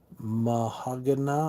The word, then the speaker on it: Meshuggah: s h u g g a a h mahag I think is how you say it is how you pronounce it I'm hoping I did that right